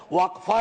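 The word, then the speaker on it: وقف: और अलग अलग लोग इसका प्रोनाउंसिएशन अलग करते हैं, कोई वक्फ बोलता है, कोई वकफ बोलता है।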